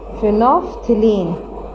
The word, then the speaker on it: phenolphthalein: फिनोफ्थिलीन, सो आई am writing in Urdu, फिनोफ्थिलीन, इस तरीके से आपने इसको प्रोनाउंस करना है, फिनोफ्थिलीन।